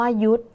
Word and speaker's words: ยุทธ: มา ค่ะ คำ ว่า ยุทธ สังเกต คำ นี้ ดี ๆ นะ คะ มี ธ ธง เป็น ตัว สะกด แต่ ออก เสียง พยัญชนะ ท้าย เหมือน ด เด็ก ก็ อยู่ ใน มาตรา